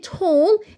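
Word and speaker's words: whole: البلكونه دي اي كانر وكلمه هول الدبليو هنا معايا يعني حرف ايه ساكن ما بينطقش الدبليو اذا ج بعد منها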